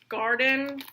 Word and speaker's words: Gardein: You have Garden, but it's like spelled like Gardein, and then Morningstar.